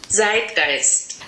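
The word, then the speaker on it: Zeitgeist: the first word is site ghost and I'm not a native German speaker my pronunciation is not perfect so this is what it sounds like on Google translate zit gist so the meaning of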